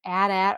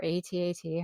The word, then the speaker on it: AT-AT: for this year gingerbread AT-AT or AT-AT, however you want to pronounce it for yourself, Walker set from Lego for $59.99, and this one's going to be coming out October 1st.